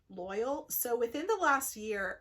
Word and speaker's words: Loial: Loyal. Yes, Loyal is how they say it in the show.